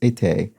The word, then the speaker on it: été: Just for your information, a French pronunciation tip: summer is été, It's a phonetic English pronunciation.